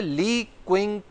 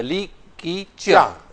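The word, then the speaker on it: Li Keqiang: हिज्जे लिखे हुए हैं वो तो है ली क्विंग ली किंग हमम नहीं नहीं अच्छा ली की चा अच्छा ली की च ठीक है जब आप चाहे तो गाफ लगा दे और गाफ साइलेंट हो ठीक है अंग्रेजी में भी होता है ना बहुत से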